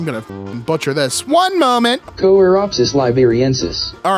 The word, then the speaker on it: Choeropsis liberiensis: Choeropsis liberiensis. All right, Choeropsis liberiensis. That is how I believe it's pronounced.